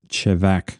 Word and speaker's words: Chevak: I actually looked up how to pronounce these, and according to the internet, that is how you pronounce, especially Chevak, because my memory says it was different when I was there and they explained to me how to pronounce it. It's one of those things where they're really particular in how it's pronounced, and I just always got it wrong. But according to the internet, it is Chevak, so we're going to go with that.